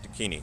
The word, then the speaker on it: Dakini: So am I pronouncing that right? Yes. Dakini.